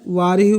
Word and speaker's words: Wahrew: वारियू bridge. क्या? लिख लेता हूँ स्पेलिंग, WAHREW।